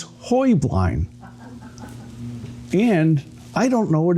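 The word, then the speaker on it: Heublein: Um, but the correct Bavarian pronunciation is Hoy Blind.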